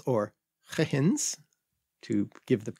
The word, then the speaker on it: Huygens: to these early gravity-driven clocks, improvements like Christian Huygens or Huygens, to give the correct... To attempt the correct to attempt pronunciation the of correct the Dutch name.